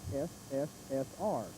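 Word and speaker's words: СССР: CCP the letters now in Russian the Union of Soviet Socialist Republic is pronounced so now that is sssr now then the problem is the American equivalent of the s in Russian is the C okay and the equivalent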